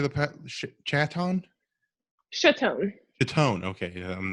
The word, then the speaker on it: Chaton: Chaton.